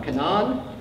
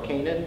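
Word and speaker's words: Canaan: the Quest for uh Canan or Canan as you pronounce it in English modern Arab American fiction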